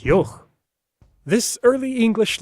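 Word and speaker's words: yogh: glide y and ye, and the raspy sound at the end of its own name, yoch.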